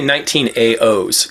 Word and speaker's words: 19A0s: say 1980s i say 19aos kind of like kind of like the 1980s but 19ao and it it has